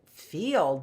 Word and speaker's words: field: grazed in the field see see those words how we have to learn like field field that and it's spelled i e f i e l d field I thought it was two vowels go walking the first one does the talking not the second one see why we have